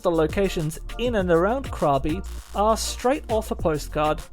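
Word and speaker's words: Krabi: Escavalia, I traveled to the seaside town of Krabby, or Krabby as it's actually pronounced.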